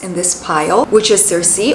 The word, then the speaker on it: Circe: And let's start with one of the most exciting books in this pile, which is Circe or girly. That's how it's pronounced in Greek. This is of course a Greek name, girly.